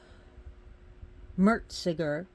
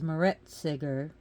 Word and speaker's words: Meretseger: it will be on Meretseger. She's also pronounced as Meretseger. Now we know in ancient Egyptian tongue they didn't pronounce the vowels, so it would be more like Meretseger, something like that. Meretseger, most likely.